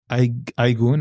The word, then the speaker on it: Aygun: is in my opinion and so uh Rosa aigun I want to make sure I want make sure I pronounce this correctly it means Moon day in